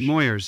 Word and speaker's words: Moyers: how do i say his name moyers moyers moyers yes your dad did in 1988 with uh